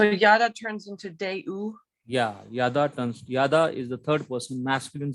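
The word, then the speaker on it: ידע: How do you pronounce the root root word? word, the only consonantal form you have to remember. Yada.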